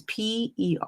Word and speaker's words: Perrakis: Athena Perikis. I probably spelled her I know I mispronounced that name. Last name is Perrakis.